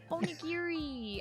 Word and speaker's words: onigiri: Onigiri.